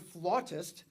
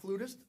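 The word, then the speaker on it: flautist: We've just re confirmed as in last night that worldrenowned flirtist, she tells me that's how it's said. Uh, not flutist, flawist, uh, Adrien Greenbomb is going to lead us on March 15th.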